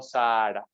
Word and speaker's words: Sahara: a terminar esto dice la civilización del Sahara creo que es la pronunciación correcta en algún momento me van a corregir pero tengo entendido que es así pero comúnmente llamado Sara pero tengo entendido que es Sahara Okay entre paréntesis 68000